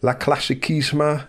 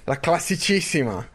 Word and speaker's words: La Classicissima: monument of the season, La Classicissima, La Primavera. Which nickname's the right one, Daniel? Well, definitely not the way you pronounce the first one, Napalm. Jesus Christ. La Classicissima.